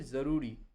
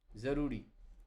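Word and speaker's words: ज़रूरी: আপনারা কখনোই এই শব্দটি বলার সময় বাংলা উচ্চারণ জরুরি বলবেন না। আপনারা সবসময় বলবেন জরুরি। জরুরি।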